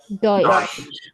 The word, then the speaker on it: Deutsch: So if you write Deutsch in the pronunciation in English, right, it would go DOYCH. Deutsch. Deutsch. UYE. Like this. DOY.